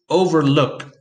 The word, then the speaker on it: overlook: Overlook, that has the stress on the last syllable.